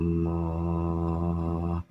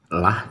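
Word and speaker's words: الله: sini ketika dia menghadapi kata Allah tanda baca sebelumnya adalah Farha maka penyebutan ataupun cara membacanya adalah dengan sebutan loh ya loh ya bukan lilele apa namanya bukan lah tapi loh loh ya illallahu kecuali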